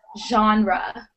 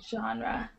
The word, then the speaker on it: genre: um so yeah genre the pronunciation is genre genre so everyone feel free